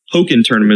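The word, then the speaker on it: Pokkén Tournament: I guess poken tournament is how it's officially being pronounced. At least that's how Bill pronounced it.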